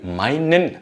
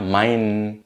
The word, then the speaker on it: meinen: Alors ici, le meinen, le E-N, se prononce comme un N long. Donc, ich stelle dir meinen Freund vor.